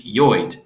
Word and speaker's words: Lloyd: see of course that the correct pronunciation of lloyd is actually joid i would prefer that you pronounce my name correctly now that we are man and wife please call me joyd from now on good